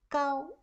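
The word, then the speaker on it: 糕: away and cure disease in chinese cake has the same pronunciation as height bows are pronounced as gao thus eating cake can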